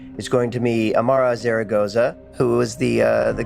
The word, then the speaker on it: Zaragoza: uh the lady that carries the episode Amara Zaragoza did I get I pronounce it right yes you did okay good